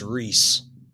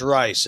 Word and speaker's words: Reese: It's Reese. It's not Rice. It's Reese.